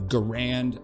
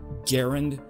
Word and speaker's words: Garand: know people in America call the weapon the Garand but the actual inventor of the weapon John Garand pronounced his own name Garand so that's how I say it what are